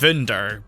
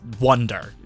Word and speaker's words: Wunder: You can kind of hear it in the way they say it, because Japanese doesn't have the V sound effect. They pronounce it with the B.